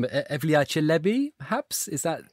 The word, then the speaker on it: Evliya Çelebi: Apologies, Ebru, for pronunciation, but Evliya Çelebi, perhaps? Is that? Evliya Çelebi, yes.